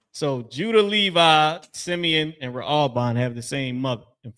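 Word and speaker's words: ראובן: Ra'alban. Ra'alban is how you pronounce that in Hebrew.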